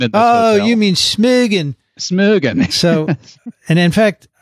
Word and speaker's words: Smögen: Now, Sophia came up to me at the meeting in Smögen and said, "I love saying that." Well, look, they taught me how to pronounce it because I said Smogen, right?